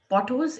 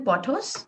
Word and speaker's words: Pothos: who's just getting started with plants would be pothos. It's also called devil's ivy. Devil's ivy. And what's the other name? Golden pothos.